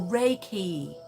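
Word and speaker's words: Reiki: not immediate okay three syllables IM no four syllables immediate okay I lost everybody there oh Ray key Ray key thank you for that I can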